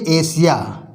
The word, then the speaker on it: Asia: जब किसी शब्द में एस के बाद IA आए तो एस का उच्चारण सा पढ़ा जाता है। जैसे ASIA, इसको बोलते हैं एशिया।